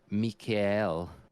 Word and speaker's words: Mikhail: a shame that um Michael Mikhail it's how you pronounce it in Germany or German um he couldn't